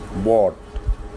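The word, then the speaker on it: bought: यू जी H sorry O यू जी एच आ जाए दरमियान में वर्ड के किसी या एंड पे आ जाए तो उसमें भी जी एच साइलेंट होता है। एग्जांपल्स बॉट दूसरी एग्जांपल है कॉट।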